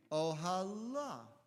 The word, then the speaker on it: ohala: But the Hebrew clearly says ohala. Right? It's pronounced ohalo, but it's ohala. It's with a hey.